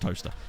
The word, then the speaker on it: Towcester: When we were, yeah, it's spelt Towcester, but it's pronounced Toaster because English.